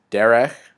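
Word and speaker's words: דֶּרֶךְ: means sword and again note that both Derek and hair of have those Segel valves and that's the accents on the first Segel or the beginning of the word also have the plural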